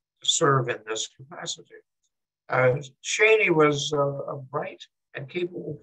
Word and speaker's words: Cheney: He spelled it the same way our recent vice president spelled his name, but he pronounced it Cheney. Because of Virginia pronunciation.